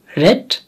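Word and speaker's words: read: A book will be রেড বাই হার। খেয়াল করবেন রিডের উচ্চারণ আলাদা, যদিও বানান একই, পাস্ট পার্টিসিপলের উচ্চারণ হচ্ছে রেড।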